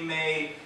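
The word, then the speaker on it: 妈: pronouncing a character incorrectly May distort your meaning for instance the word for mother is ma pronounced with a high flat pitch like a musical note drawn out on the other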